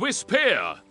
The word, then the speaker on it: Whisper: euch den Spitznamen Whisper es heißt Whisper Betonung auf Speer oh also wieso der